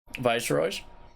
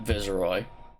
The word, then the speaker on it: Viceroy: you guys are ready viceroys Star Wars that is how I pronounce it I pronounce it like the royal title Viceroy like in Star Wars but I accept visi Roy I understand that that's